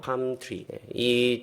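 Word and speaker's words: palm tree: 팜 선데이라고 하고이 종녀 나무를 팜트리라고 합니다.이 엘은 묵음이에요. 팜트리.이 종여 나무가 우리가 뭐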